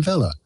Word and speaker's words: Weller: dialogue is he so he doesn't say his name is sam weller he says my name's sam vela and so you know